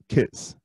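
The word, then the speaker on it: Kitx: So it's spelled K-I-T-X, but it's pronounced Kits, K-I-T-S.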